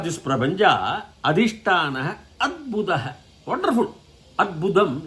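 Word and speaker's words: अद्भुत: Adbudam inside. In Tamil they say Arbudam. Arbudam is cancer in Samskrita. So you have to be very careful while pronouncing Samskrita.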